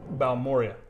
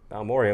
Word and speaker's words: Balmorhea: This is Garrison Brothers, how do you pronounce it? Balmorhea. Balmorhea, and what does that mean?